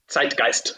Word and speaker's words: Zeitgeist: that I think the German word is the Zeitgeist in Germany. Is that the right word? The Yeah, you Zeitgeist, pronounce it Zeitgeist.